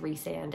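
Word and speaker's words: Rhysand: great palette cleanser to transition from pharaoh and rice and story I also know that it's pronounced resand and that just doesn't make sense in my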